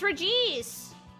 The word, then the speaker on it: Regice: Oh, wait, the TTS pronounces it wrong. It's Regice.